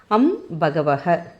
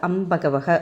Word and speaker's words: அம்பகவக: அப்படிப்பட்ட சக்தி வாய்ந்த மந்திரம் அம்பகவக அம்பகவக அம்பகவக நிறைய இடத்துல அம்பகவ அப்படின்னு சொல்லி இருப்பாங்க ஏன்னா நம்ம வந்து அந்த அம்பகவகங்கறதுதான் சரியான உச்சரிப்பு அதனால நம்ம மந்திரங்கள் சொல்றப்ப அம்பகவக அப்படின்னு சொல்லிட்டு இந்த ஒரு